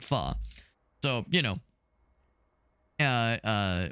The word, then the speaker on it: pho: h o obviously it's it's spelled pho but it's pronounced fu not fo but fu.